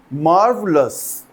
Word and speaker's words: marvelous: मार्वलस actually English में आर का जो प्रोनाउंसिएशन है उसको ओमिट करने का एक ट्रेडिशन है, जिसे हम ध्यान में